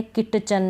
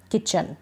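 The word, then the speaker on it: kitchen: आ जाएगा जैसे कि यहां पर टी के बाद सीच है तो हम सीच तो पढ़ रहे हैं सीच को च के रूप में लेकिन टी को हम नहीं पढ़ रहे हैं टी इसमें साइलेंट है ठीक है अब ऐसे नहीं पढ़ेंगे जैसे ये है किट चन नहीं किचन ठीक है इस तरीके से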